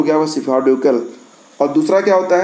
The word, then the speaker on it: cephalocaudal: और इसको अगर अंग्रेजी में कहें तो क्या कहेंगे, सेफालोकाउडल सीक्वेंस, सेफालोकाउडल सीक्वेंस। स्पेलिंग में बता देता हूँ, CEPHALOCAUDAL, ये एक ही में है, ठीक है। ये हो गया वह सेफालोकाउडल।